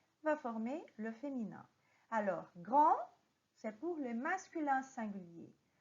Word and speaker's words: grand: Faites attention à la prononciation parce que quand nous avons une consonne qui finit en mot en français, on ne prononce pas cette consonne. Alors, on va dire grand.